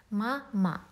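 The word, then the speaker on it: мама: Ma-ma. There are two syllables, two vowels. The first vowel, a, is stressed mama, and it's pronounced with full sound, but the second one is not stressed.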